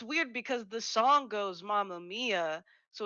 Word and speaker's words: Mamma Mia: one messes with mama maya yeah it's still pronounced mia it's just because sam has definitely been calling it mamma maya this entire time yeah absolutely and she definitely